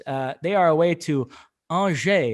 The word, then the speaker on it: Angers: in their hands uh they are away to anger it's pronounced uh i know you want to say angers but uh it's andre well psg are a way to breast uh